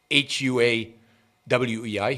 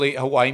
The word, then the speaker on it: Huawei: One is ZTE, so that's pretty easy, but the other one is Huawei, H-U-A-W-E-I, Huawei. Now, both of those companies make electronic equipment. For example, Huawei makes equipment for 5G, right?